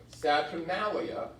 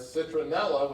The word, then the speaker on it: Saturnalia: Roman midwinter festival called Saturnalia, which I often mispronounce as citronella, which has a very different meaning. But I have to think hard to pronounce Saturnalia correctly.